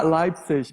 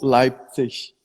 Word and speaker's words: Leipzig: Bom, é porque, Ah, assim, tem duas maneiras de se pronunciar. Você pode pronunciar Leipzig ou Leipzig. E a minha pronúncia é Leipzig, mas muita gente daqui mesmo fala Leipzig.